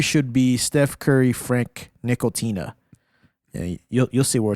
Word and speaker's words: Ntilikina: And when we were playing, y'all, Frank Nickel-Tina, that's how you say it, right? Nickel-Tina? Like a nickel. Tina.